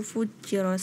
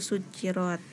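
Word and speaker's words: سُجِّرَتْ: Di ayat ke-6 itu tadi keliru di wa idzal biharu fujirat. Seharusnya yang benar itu wa idzal biharu sujirat.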